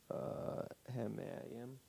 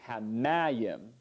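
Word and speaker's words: הַמַּיִם: So if it's before the last syllable stress, if it's milel, then the accent is repeated like in Genesis 1:7 with mayim. So it's hamayim, and the accent is post-positive, but the pashta gets repeated over the accented syllable also. So, And so when a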